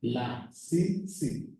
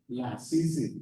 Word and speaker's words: Lasisi: Lasisi, 3 syllables. And unfortunately, it's pronounced like Hispanic language because there is a correspondence between the orthography and the pronunciation. Lasisi, that's the way you write it.